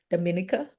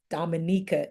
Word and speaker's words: Dominica: because when somebody asked her, tell us about, Dominica, she was able to tell them about her country. Well, first of all, she corrected them on how it's pronounced, Dominica. Dominica it is.